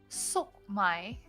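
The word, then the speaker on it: 粟米: Sok mai. Sok my nuts. Got him. Got him. But it actually is sokmai. Sokmai is corn.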